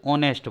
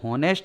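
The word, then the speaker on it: honest: चाहिए, क्योंकि इसको होनेस्ट नहीं बोलते हैं, इसको ऑनेस्ट बोलते हैं। ऑनेस्ट के अनुसार क्या आना चाहिए, एन। अगर इसको होनेस्ट बोलते होते तो इसको पहले क्या आता, ए।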